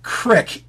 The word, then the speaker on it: creek: Crick is an actual pronunciation of creek.